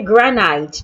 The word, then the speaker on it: granite: I hope you do not say granite. No, the letter I in granite also sounds A.